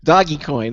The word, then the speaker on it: Dogecoin: Yeah, Doggy Coin.